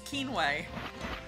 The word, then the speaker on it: quinoa: Which, I'm pretty stoked to know how to pronounce that word now. Well, it looks like quinoa. It's quinoa.